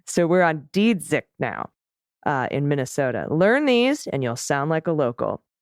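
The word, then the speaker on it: Dziedzic: also one person you should know the proper pronunciation. Senate Majority Leader Kari Dzidzik. Dzidzik. Okay. Now you're taking me Wisconsin way with Protozewitz, which took me forever to get right. So we're on Dzidzik now in Minnesota.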